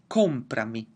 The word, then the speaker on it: comprami: It's still going to be comprami.